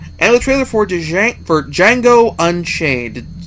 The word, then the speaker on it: Django: trailer for judging for Django Unchained the D is silent as the movie lets